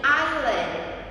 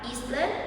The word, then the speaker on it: island: Kita tidak mengucapkan huruf S-nya, jadi pengucapannya menjadi island. Island bukan Eastland bukan Iceland.